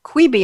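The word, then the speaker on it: Quibi: four interesting short form like queebie i hope i'm saying it right yeah quibby quibby q-u-i-b-i is here to stay in may even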